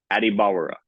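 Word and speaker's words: Adebawore: And he said, Adibawara.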